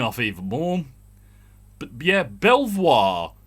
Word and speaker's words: Belvoir: even more but yeah belvoir to beaver i don't know how you get that and i stand by